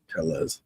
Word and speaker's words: Telles: if that helps you tellas like tell tubbies there you go Robert